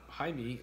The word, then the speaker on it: Jaime: don't have egg rolls Jaime is how you pronounce Jamie in espanol yeah I know I